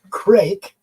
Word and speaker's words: Kreke: Okay, Kreke. I know it looks like Creek, but it's Kreke.